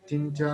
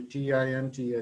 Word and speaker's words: Tinta: more about the my tinto negra grape i'm sorry about my pronunciation it has to be t i n t a tinta um yeah so the